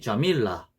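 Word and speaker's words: جميلة: 뭐 예를 들어 뭐 안티 자밀라, 원래 그냥 안티 자밀라 툰인데 안티 자밀라라고 이렇게 너 예쁘다 이런 식으로 발음을 합니다.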